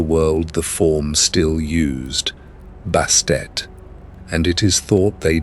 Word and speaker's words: Bastet: And it is thought they did so to press upon the final sound, to insist that the silent T at the end of her name be heard and honored rather than swallowed.